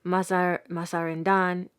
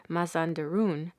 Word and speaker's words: Mazandaran: Mazandaran is likewise pronounced Mazandarun.